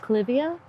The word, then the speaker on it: Clivia: And sometimes it's pronounced Clivia. The genera was named after a botanist named, his last name was Clyde. So I just call it Clivia.